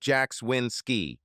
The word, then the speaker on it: Yakswensky: My name is Yakswensky, pronounced Jackswinski.